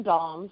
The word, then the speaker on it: Dahms: or your company so my name is Doms and that's spelled d a h em is and Mary